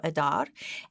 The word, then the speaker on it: Adar: to this so that is the way you pronounce it the month of adar and what is incredible about this month is